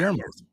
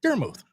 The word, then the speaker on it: Daramuth: Yeah, Daramuth. yeah. I don't know how everyone seems to have a problem with it. It's Daramuth. Well, it's the silent E at the end.